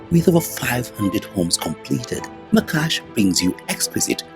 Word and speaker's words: Macaash: We have been having a conversation on Macaash, or as I'm told it's rightly pronounced, Macaash, when it comes to